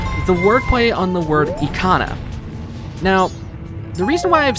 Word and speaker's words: Ikana: as well is that some people pronounce the Ikana Canyon as Icona Canyon. And there's interesting wordplay with that because it could sound like the word iconoclast, which defines as a person who destroys religious beliefs or images.